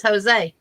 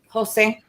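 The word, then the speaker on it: José: name in Mexican was Jose Jose h-o-s-e-a because the J's are pronounced with the h uh they say if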